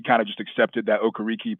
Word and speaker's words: Okereke: Just, we're going to pronounce it Okereke.